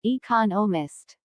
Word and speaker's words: economist: so it is emphasized there are four syllables in economist with the stress on the second syllable economist he just finished writing